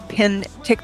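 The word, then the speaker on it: Penticton: Pintict pin tick. So it's spelled I mean it's pronounced pretty much how it's spelled.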